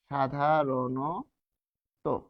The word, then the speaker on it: সাধারণ: দেখুন এই র এর সাথে কি রয়েছে? র সন্ত যোগ স্বরে অ। তার মানে মধ্য অ। মাঝখানে অ রয়েছে। মধ্য অ। এই মধ্য অ হবে ও।। সাধারণ সাধারণ। এই মূর্ধন্য হবে দন্তন্য। কারণ কি? মূর্ধন্য যাই থাকুক না কেন দন্তন্য মূর্ধন্য উচ্চারণে দন্তন্য থাকবে।